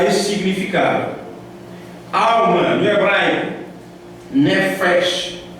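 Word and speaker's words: nephesh: Alma, no hebraico, nefesh, é quase assim a pronúncia, N-E-P-H-E-S-H.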